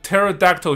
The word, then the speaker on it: pterodactyl: 因为他的 P 是 silent，也就是他的拼音里面这个 P 是不发音的，是 silent。可是 P 这个字母又正好跟 P-E-E 尿尿听起来是一样的，所以因为他尿尿是不发出声音的。OK， P is silent.